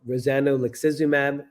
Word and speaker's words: rozanolixizumab: just launched last Friday using a drug called rozanolixizumab. Rozimab is the easy name, easy way to pronounce it.